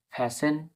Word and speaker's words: fasten: এরকম ভাবে FASTEN, ফ্যাশন, ফ্যাশন।